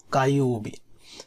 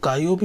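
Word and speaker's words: 火曜日: আর যখন বারের ক্ষেত্রে ব্যবহৃত হবে, যেমন মঙ্গলবার, তখন উচ্চারণটা হবে কায়োবি।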